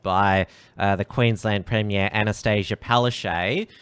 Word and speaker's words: Palaszczuk: Well, even Scott Morrison has been told by the Queensland Premier Anastasia Palaszczuk, who now a lot of people are now pronouncing Palachuk, using that more crass pronunciation.